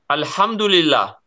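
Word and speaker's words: الحمد لله: yeah in England yeah exactly like pronounced in English alhamdulillah alhamdulillah yeah alhamdulillah exactly okay yes what you respond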